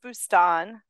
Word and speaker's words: Boustan: I said Boustan, and that's like Mississippi way of saying it. Well, I'm not really particular. It is Boustan. Boustan.